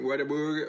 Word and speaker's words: Whataburger: oggi siamo stati a whataburger whataburger watab come lo pronunciano gli americani eh water Burger water Burger water water